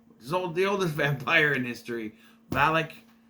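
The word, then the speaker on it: Valek: oldest living vampire, the oldest vampire in history, Valak. Not the same one, it's spelled differently.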